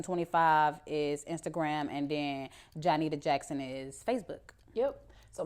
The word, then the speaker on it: Johnnitta: Johnnitta.